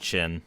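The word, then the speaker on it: Qin: It's pronounced chin. Um, one of those weird wacky Chinese things.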